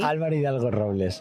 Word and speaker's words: Álvaro Hidalgo-Robles: Álvaro Hidalgo-Robles.